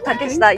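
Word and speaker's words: Takeshita: With Takashita Street. Takista.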